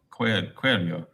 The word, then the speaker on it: coelho: Oh, buraco de coelho.